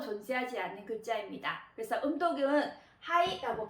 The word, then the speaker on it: 肺: 그래서 음독은 하이라고 발음을 합니다.